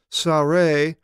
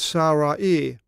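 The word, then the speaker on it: Ζαραΐ: Now it's interesting, here we have a diaresis above the double dot, so you split this instead of Sare, it's Sarai. You pronounce each vowel.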